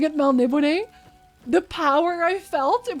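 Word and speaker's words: Melniboné: Actually, it's pronounced Melnibone.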